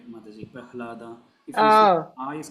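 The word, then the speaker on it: Prahlāda: So this second, generally, this ahlada, we pronounce it like that, right, Mataji? Prahlada.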